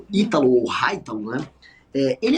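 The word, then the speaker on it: Hytalo: Eu acho muito engraçado que hoje a gente chama ele de Itítalo, mas o nome dele se escreve como se fosse Haitalo, né?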